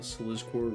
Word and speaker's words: Slizcore: I call it Slizzcore rhymes with grub.